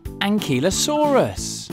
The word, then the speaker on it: Ankylosaurus: let's learn all about ankilosaurus how do you say that again an key low saw russ how big was an